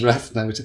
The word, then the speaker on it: Raidne: Yes, well, because I'm so good at marketing, I thought I'd choose a name which no one could spell or pronounce, which is Raidne.